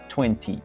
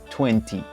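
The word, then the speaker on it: twenty: The most common is pronouncing the middle T loudly. Listen, 20, 20, 20.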